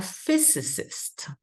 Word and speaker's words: physicist: he will become a physicist this is funny because it has two s sounds right two phys is chemistry